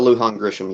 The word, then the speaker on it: Lujan Grisham: brutally mispronounced middle name is it lujan grissom is that the uh is that michelle michelle lujan grisham yes sir all right so you